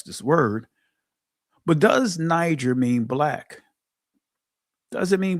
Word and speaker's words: Niger: Now there were in the church that was at Antioch certain prophets, teachers as Barnabas and Simeon that was called Niger and Lucius of Serene and Manan which had been brought up with Herod the Tetak or Tetrarch and Saul.